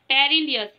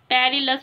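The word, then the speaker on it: perilous: Next पर आते हैं पेरिलियस, पेरिलायस, पेरिलस, पेरिलस होगा इसका सही प्रोनाउंसिएशन, पेरिलस।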